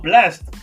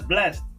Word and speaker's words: Blxst: So the name is pronounced. It's spelled as BLXST. Nah. Oh, Blast. That's Blast.